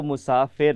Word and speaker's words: مسافر: چلیں دیکھتے ہیں کہ اصل تلفظ کیا ہے، مسافر ہے یا مسافر ہے. جی جو صحیح تلفظ ہے وہ مسافر ہے.